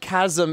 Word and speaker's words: chasm: I feel like the I feel like chasm in this world is with the CH sound Chasm oh is that is that a new is that a new Canon thing for us that it's pronounced Chasm and Hyrule I will remember that